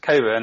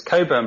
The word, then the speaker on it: Cockburn: The website, well, my name's pronounced Cockburn. I didn't want to mention that up front and interrupt things, but it's Cockburn, but it's spelled Cockburn. So it's Cockburn.